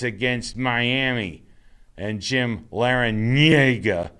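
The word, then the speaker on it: Larrañaga: against miami and jim laranyega that's how you say his name lara nyega you gotta do with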